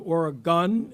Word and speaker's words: Oregon: Governor, I want you to know that we've all been practicing the pronunciation of Oregon and not Oregon, which at the christening, Congressman Greg Walden chastised all of us for, again, getting it wrong.